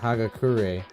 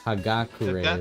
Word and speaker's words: Hagakure: Oh, I always said Hagakure, but I guess Hagakure is better.